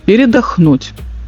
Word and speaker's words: передохнуть: Скандинавы сушат вёсла, паркуются у берега и собираются передохнуть. Ну, ударение ставьте правильно, конечно, передохнуть. Отдохнуть, короче.